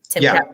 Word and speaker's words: Timkat: Timkat Festival?